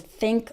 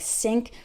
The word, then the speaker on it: think: When I hear someone pronounce these and those with a D sound, like D's and does, or pronounces think like sink, that's a giveaway. That makes it obvious that the person is not a native speaker.